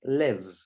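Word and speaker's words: לב: In this case, it doesn't have a dagesh, a dot, and the word is pronounced lev.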